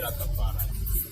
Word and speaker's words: Rastafari: Say Rastafari. Rastafari? Say Rastafari.